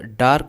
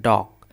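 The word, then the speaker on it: dark: अब ये देखिए इसे डार्क नहीं पढ़ते हैं। इसमें आर साइलेंट होता है आपका। इसको पढ़ते हैं डॉक। डॉक डॉक।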